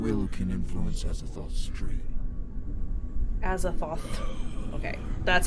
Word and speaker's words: Azathoth: Azathoth. Okay, that's how you say it. Azathoth. There's so many fucking syllables in Cthulhu names.